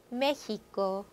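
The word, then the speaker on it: México: 자, 그런데 이 X 발음 바로 에케세에서 예외가 되는 게 바로 멕시코, 멕시코, 멕시카노, 멕시카노. 자, 바로 앞에 나왔던 허다 발음, 흐 발음이 되는 거. 자, 요거 두 개 단어 예외다.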